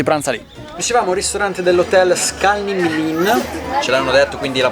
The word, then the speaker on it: Skalní mlýn: Dicevamo ristorante dell'hotel Skalning-Lin, ce l'hanno detto, quindi la pronuncia dovrebbe essere 99% corretta.